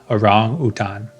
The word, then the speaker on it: orangutan: in English people say orangutang but I try to go with like the pronunciation from Bahasa Indonesia orangutan orangutan absolutely wonderful beautiful